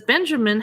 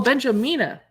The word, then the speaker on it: Benjamina: compte buns Katie says Benjamin has some partic oh benjamina oh I said her name wrong has some spectacular recipes